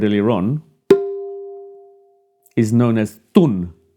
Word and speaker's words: tun: on, is known as TUN. Now in english i would spell that as t-u-n, even though that could be read as tan or toon - but it's pronounced 'Thoonh'.